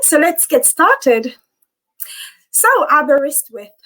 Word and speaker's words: Aberystwyth: let's get started so arborist with it's a full name um so how you say it is abba wrist with uh we are based